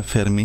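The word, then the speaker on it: fermée: स्त्रीलिंग भी बोलिया फेरमे ही जाएगा, सिर्फ लिखने एक ई फालतू लगेगा।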